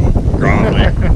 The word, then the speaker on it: Gravely: If you're from Minnesota, you pronounce it Gravely. Gravely. Gravely. I have friends that call it Gravely.